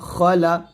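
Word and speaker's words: خلق: দিবেন মিন শাররিমা খবর খ লাম জবর লা খলা কফ জবর ক খলা হবে আমরা বলি খা বলি অনেকেই তো খা বলবেন না এটা খ মোটা করে এরকম এসেছে নাকের ভিতর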